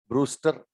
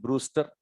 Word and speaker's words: Brewster: ठीक है, ये स्पेलिंग देख लेना, BREWSTER, ब्रूस्टर। ठीक है, ये W आ गया बीच में, ब्रूस्टर, ये ब्रूस्टर एंगल कहलाता है सर।